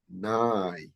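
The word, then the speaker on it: ⲛⲁⲓ: on the right ear I have separated the Y from the a I have put two dashes in between to make a separate a separation because if I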